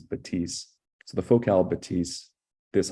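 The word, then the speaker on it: Bathys: h Ys of but the French pronunciation is is batis so the focal batis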